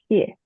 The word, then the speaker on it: Xie: My name is Xie, last name X-I-E, and just want to add the X pronounced like S-H.